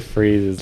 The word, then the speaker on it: Fries: he says mr fries because mr freeze's last name is spelled fries that's why it's freeze because his last name is actually freeze but it's spelled like foreign like his real name is victor freeze but it's spelled like fries um just a little